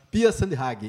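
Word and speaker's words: Pia Sundhage: Pia Sandhag. Pia Sandhag. Isso, Pia Sandhag. Foi uma pronúncia que eu botei, inclusive, ali no Google, para saber qual a pronúncia. Então, é Pia Sandhag, e a nova treinadora da seleção brasileira feminina,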